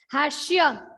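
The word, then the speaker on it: હાસ્ય: तो श उसमें आधा लिखेंगे हम, लेकिन उसकी प्रोनाउंसिएशन कैसी होगी? हमको कंप्लीट सुनाई देगी, उसको कहते हैं हास्य।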